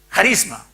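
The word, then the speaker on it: χάρισμα: primero de corintios 17 viene del griego del griego que se pronuncia carisma que significa una dádiva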